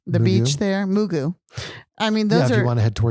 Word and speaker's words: Mugu: Mubu? No, I'm saying it right. The Mugu? beach there, Mugu.